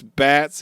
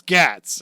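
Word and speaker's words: Gatz: And he starts running and then Sabo's like, "Thanks, Bats." And he's like, "It's Gats."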